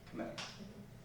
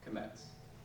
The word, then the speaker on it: Kmetz: Kmetz. What? Kmetz. How do I spell that?